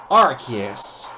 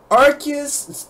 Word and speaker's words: Arceus: This Pokemon's name has many pronunciations, but the one I'm using is Arceus.